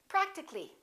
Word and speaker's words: practically: We drop the A and we say practically.